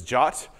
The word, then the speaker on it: JWT: stateless jaat is now that acronym JWT is often pronounced this jot I'll use those terms